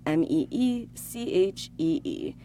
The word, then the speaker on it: Michi: It's spelled Zendaya, is Michi, Meechee. All right, here we go, guys. Zendaya is Michi, and LeBron James is Gwangi.